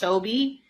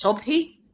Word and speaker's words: Sobhy: 100 hy everyone because it's pronounced sobe in english like in arabic it's in arabic it's sophie so it's like you